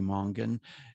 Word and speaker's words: Mongan: And it's written by Marie Mongan. And her last name is spelled Monga. Is it Gan or Gon? GAN. Gan, Marie Mongan.